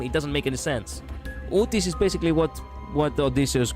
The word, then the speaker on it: Utis: No, it it actually doesn't have Look, the name Odysius in Greek, it's basically Odicas. And ut it's pronounced exactly like that. Utis.